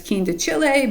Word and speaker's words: quindecile: There's also this quindecile, and I believe the technical pronunciation is quindecile, but I say quindecile. I prefer that pronunciation.